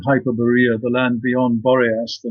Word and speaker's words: Hyperborea: me is hyper boria or I guess you pronounce it hyperborea yes I would say hyperborea sure what can you tell people about this